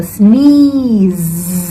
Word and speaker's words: sneeze: want to say it with a long e sound and the Z sound after so you want to smile when you say it so you go sneeze and then the Z sound comes after so make sure your smiley and give it the Z sound like how Abby would sound you know like or like when you say zebra or zipper right so how you say